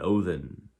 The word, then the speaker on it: Odin: lot of Vice purposes saying wotan rather than Odin which is a proper you know pronunciation of Odin Odin and